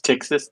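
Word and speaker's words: Ptyxis: It's Texas. The P is silent.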